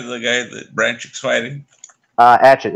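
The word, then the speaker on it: Yigit: Adjit. It's spelled Aigit.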